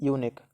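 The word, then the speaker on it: unique: इस चीज की है क्योंकि ये यू से स्टार्ट है यू क्या है एक बोवेल है लेकिन ये साउंड कौन सा कर रहा है वो हमें देखना है हिंदी में आप जब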